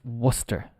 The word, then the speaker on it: Worcester: What do you think? Well, it's Worcestershire, of course, isn't it? Worcestershire. No, absolutely not. The pronunciation is Worcester. Well, we've got the Shire.